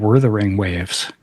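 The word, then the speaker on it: Wuthering Waves: the pronunciation of it it seemed like it's spelled weaing waves but everybody was saying wether ring waves elro baby who knows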